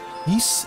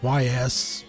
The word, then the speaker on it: Ys: East X Nordics. That's how you say it.